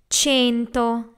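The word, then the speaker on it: cento: have a sound so the number 100 is chain toe in Italian 200s do a chain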